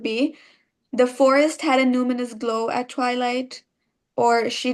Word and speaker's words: numinous: So, it's called numinous. It's spelled n u m i n o u s.